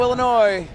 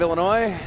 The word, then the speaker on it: Illinois: prop out of Chicago Illinois and yes the S is silent at the end of Illinois number seven going for